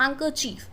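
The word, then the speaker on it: handkerchief: की हैंग, और chief, हैंकरचीफ। बट नो, हम बात करते हैं हैंडकरचीफ की, जिसमें D होता है हमारा साइलेंट।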